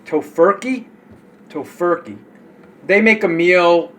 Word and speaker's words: Tofurky: called To Toe I always say it wrong tofurky tofur they make a meal um for the